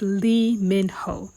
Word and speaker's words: Lee Min Ho: I know you guys are like cursing me out and laughing, but it's Lee Min Ho.